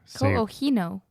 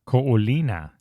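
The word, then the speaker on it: Ko Olina: Ko'ohino. Ko'olina.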